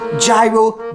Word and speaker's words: gyro: them freedom sandwiches third gyro is inconsistent with the pronunciation of gyrate and gyration we don't tell our lovers oh baby yeah yeah great all over me no Dewey that should be gyro gyrate gyration gyros fourthly a lot of